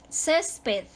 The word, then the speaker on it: césped: lo tanto se acentúa césped también se acentúa su sílaba tónica está en la penúltima terminó en una consonante